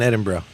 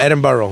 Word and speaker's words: Edinburgh: Edinburgh. Scotland. Not Edinburgh. They'll curse you out if you say Edinburgh. Edinburgh. Like, what's up, bro? Edinburgh. Yeah. If you say Edinburgh, they're gonna correct. They're gonna make fun of you.